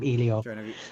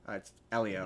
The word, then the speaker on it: Elio: I'm gonna call him I'm gonna call him Ilio. Uh Elio. Which one was that? It's Elio. The sea monster one. No, it's pronounced Elio.